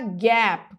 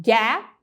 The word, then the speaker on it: Gap: Se você falar Gap, ele já não vai entender. Porque muitas pessoas acabam colocando uma vogal extra no final da palavra, porque nós não temos consoantes mudas em português.